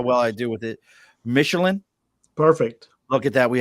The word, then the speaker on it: Michelen: word missing how well I deal with it Michelin perfect look get that we have Oscar Mission Jeff I've butchered his last name so many times he